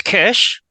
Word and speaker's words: Keish: It's Kesh, Kesh.